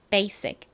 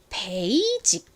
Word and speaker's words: basic: 연결해 보면 bic이 됩니다 basic 그런데이 단어를 한국식으로는이를 시옷 소리로 쓰지 않고 베이직 이렇게 표기를 하고 말을 합니다 하지만 실제 미국식 영어 발음은가 B B 이렇게 소리가납니다 하지만 보통이 단어를 한국에서들을